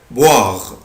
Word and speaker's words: boire: verbe boire، boire، boire يعني يشرب. عود نفسك الاو اي او الاو اي بالانجلش بنطقها وا، boire يعني يشرب.